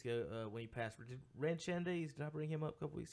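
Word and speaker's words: Schoendienst: It's not even spelled nowhere even like how I just said it. It's spelled like Schoendeist. Really? That's literally what I thought it was. I had never heard it read. I had never heard it pronounced. I've only ever seen it on paper or like playing video games. Shandies, I always thought it was Schoendeist. I'll be honest. It is not Schoendeist.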